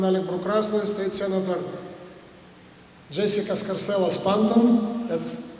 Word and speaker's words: Scarcella-Spanton: I would like to praise Office of Borough President Antonio Reynoso, all my colleagues, Assemblyman Alec Bukrasny, State Senator Jessica Scarcella-Spanton, that's correct pronunciation, Office of Congressman Hakeem Jeffries, of course.